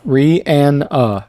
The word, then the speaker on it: Rihanna: Per Google, it's pronounced Rihanna.